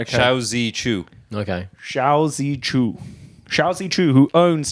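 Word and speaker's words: Shou Zi Chew: QI would be Chi. Would it? But this is Z. Yeah, apparently QI is pronounced Chi. All right, okay. But this is ZI, so I got that wrong.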